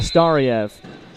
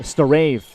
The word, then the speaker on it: Stave: Yeah, nice kick out by uh by Tiana Starv or rather uh Stave uh the correct pronunciation, but nice kick out there.